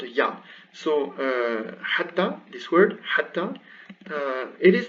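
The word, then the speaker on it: حتى: So hatta, this word hatta, it is not rare to see it with this alif, this alif khanjariya on top, just to be sure it's not hatti, it's hatta.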